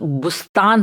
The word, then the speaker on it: بوستان: والی بلبل نہیں ہے۔ اور عربی میں بوستان کا تلفظ بستان ہوتا ہے، کبھی کبھی یہ اردو میں بھی اس طرح استعمال ہوتا ہے، اور اس شعر میں بھی کچھ اسی تلفظ میں آیا ہے۔ یہ خوبصورت